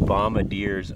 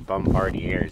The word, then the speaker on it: Bombardier: groom Trail violators will be prosecuted snowmobiles and bombadiers only Bombardier everybody pronounces it Bombadier but they're Bombardier and they've actually spelt it correctly on here